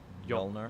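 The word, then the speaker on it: Mjölnir: she destroys the hammer yep right which is pronounced jolnir Illinois owner but again that setup is all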